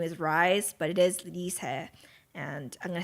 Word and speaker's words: RiSe: about her name is Dee's head but because it's spelled R is e everyone will say her name is rise but it is Lisa and I'm gonna say her name a lot